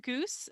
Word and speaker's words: Goos: i am at goose that's b-e-x-g-o-o-s don't put an e at the end of my name it's pronounced like the bird it does not spelled